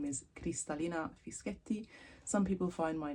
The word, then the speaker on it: Fischetti: Just think of it in sections, so Cristallina and then Fischetti. Sounds like spaghetti. But yes, in any case, it's a double pressing on the T, Fischetti, like spaghetti.